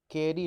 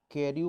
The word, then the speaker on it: Carew: इसको देखकर ऐसा लगता है कि शायद इसे हमें कैरियू पढ़ना चाहिए, लेकिन ऐसा नहीं है। इसका जो प्रोनाउंसिएशन है वो कैरी से होता है, थॉमस कैरी।